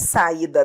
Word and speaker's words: saída: Saída. Sílaba tônica é o I.